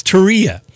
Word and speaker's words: Terje: and you've all been challenging me to pronounce his first name, but it's not as hard as it looks, actually. It's Terje.